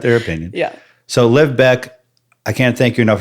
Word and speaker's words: Bec: Bec is spelled B-E-C. There's no K, like that guy.